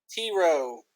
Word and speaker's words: Tyro: Tyro. The Y is silent.